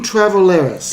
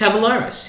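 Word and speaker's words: Tavoularis: You guys might know the how to pronounce this. Dean Travaleris. Tavalaris.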